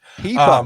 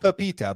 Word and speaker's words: Pipa: Pipa, not Pepita, but Pipa.